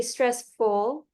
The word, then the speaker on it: stressful: train could be stressful I don't hear the L stressful traveling by train could be stressful much better stressful and then you have